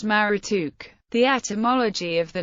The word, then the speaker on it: Marduk: According to the Encyclopedia of Religion, the name Marduk was probably pronounced Marutuk.